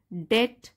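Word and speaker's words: debt: Desperate to conceal the loss, Matilda and her husband plunge into डेट, डेट यहाँ B silent है, into डेट to procure a replacement.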